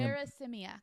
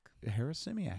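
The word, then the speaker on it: Harasymiak: put the pronunciation. That's where I'm having Harris-Simiak. Harris-Simiak.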